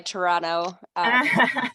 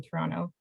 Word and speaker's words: Toronto: And I was again, hoping to impress you with my Toronto you did. I was pretty pronunciation. impressed. Yeah, you skipped the second T. No one says it if you're actually from Toronto.